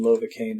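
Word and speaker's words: Lovakengj: says on the wiki that it's Browns lova cane Lobeck engine rhymes with novocaine there's a merchant in lava cane that sells balls of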